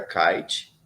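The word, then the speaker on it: Kaight: Uma delas foi a Kite, que se escreve K-A-I-G-H-T.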